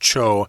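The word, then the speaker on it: 丁: I'm not sure if they were using ding there, though, like Seaman Ding here, because that's pronounced cho in Japanese.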